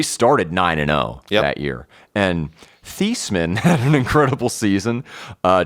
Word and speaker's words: Theismann: last name isn't pronounced theisman it's thiesman it's pronounced like t-h-e-e-s so it's like thiesman